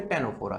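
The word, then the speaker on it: Ctenophora: में, टेनोफोरा, ठीक है, स्पेलिंग में सी आता है बट इसको बोलते टेनोफोरा है।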